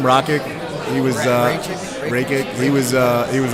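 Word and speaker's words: Rakić: How do you pronounce his name? Rakic.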